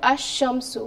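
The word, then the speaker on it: الشمس: Because sheen here is a sun letter. Therefore, if it comes after lam, lam remains silent. So because lam remains silent, sheen will be pronounced, lam will be dropped out. Sheen will be pronounced with a tashdeed sign, ash-shamsu.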